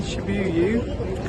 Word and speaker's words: Shibuya: Right, so I'm in Shibuya, correct pronunciation as always.